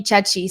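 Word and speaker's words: Ceci: barry there's cody um cody chechi sorry i'm italian i say it like how the italians say it and there's darnell nurse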